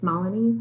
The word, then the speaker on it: Malini: It's Malini like Melanie, so I have to kind of build a bridge there as well.